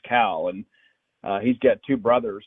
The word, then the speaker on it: Khal: As a matter of fact, that his name is Cal Stephen. It's spelled Khal, but it's pronounced Cal.